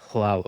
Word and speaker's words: Hlaalu: Which is kind of like a letter for an H. Tidings and good wishes to you, friend. So you could kind of think of it as like, "Oh, it's not pronounced. It's just aspirated." So it's Hlaalu, like Hlaalu. It's not an H, it's a So Hlaalu. So then it ends up just being like Hlaalu.